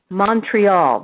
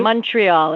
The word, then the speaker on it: Montreal: I'm talking about it's I have to say it the the English way Montreal that's how we say it right Montreal as we say it say Montreal like mous and then when